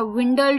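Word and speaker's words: dwindle: शाम का वो था विंडल डब् आई एन डी एल ई विंडल सुनने में है पर डी साइलेंट है तो डी डब्ल्यू आई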